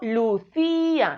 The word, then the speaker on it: Lucía: o si yo sé por esta palabra en sílabas y digo vale es que yo digo lucia no digo en lucía minucia entonces aquí en